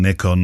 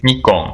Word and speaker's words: Nikon: Nick on he said so I'm gonna send you the proper pronunciation as spoken by Japanese people which which therefore has to be correct doesn't it really so this is the proper pronunciation which she sent me today me gone so if the Internet me gone Nick gone yeah yeah like me Khan on the Nikon me gone yeah better yeah okay so from